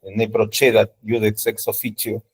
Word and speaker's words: ne procedat iudex ex officio: A mí me enseñaron la italiana, así que ne procedat iudex ex officio. Si han estudiado latín con la escuela española, es, bueno, tal como se procedat iudex ex officio. Y la pronunciación alemana, que creo que es, parece ser, según los filólogos, es la más parecida a la que pronunciaban los romanos realmente, la C se pronuncia como K, ¿no? Ne procedat iudex ex officio. Bueno, como guste.